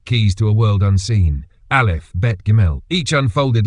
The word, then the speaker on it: Aleph: This letter here, Aleph, is silent.